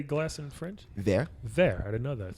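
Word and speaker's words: verre: Thank you very much.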